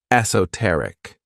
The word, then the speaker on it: esoteric: favorite adjectives is esoteric this word has four syllables and the stress is on that third syllable esoteric when we describe something as